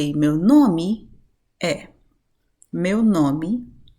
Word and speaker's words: é: say ' meu nome é,' 'meu nome é.' What's interesting here that you can notice is we have once again that particular accent opening the sound of the 'e', of the vowel, right?